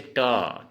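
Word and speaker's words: ট: ठीक है दोस्तों, जैसे ये ट, ट, इस ट को असमिया में हम लिखेंगे टो। क्या लिखेंगे? टो। इसको उच्चारण होगा टो।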